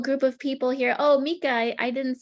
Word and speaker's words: Mika: Oh, Mika, I didn't say hello to you yet. Do you pronounce it Mika? Mika, yeah, that's perfect.